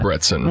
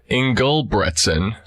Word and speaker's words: Ingebretson: Although, which is crazy to me, because your name to me really tells you how to pronounce it. It's phonetic. Yeah. Ingebretson. What pronunciations People- are you getting? Ingebretson. Ingebretson? Ingebretson. Ingelbretson. Ingelbertson.